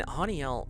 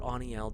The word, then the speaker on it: Haniel: And Haniel, or Aniel, depending on how you say it, is such a gentle, powerful healing angel.